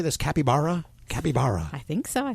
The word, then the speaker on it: capybara: Capybara? Capybara. I think so. I think that's the way you pronounce it. Capybara, yeah. Capybara? Okay. Capybara. Like Yogi Berra, capybara.